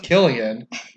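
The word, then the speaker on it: Cillian: say his name because it's really pronounced Killian and he's a very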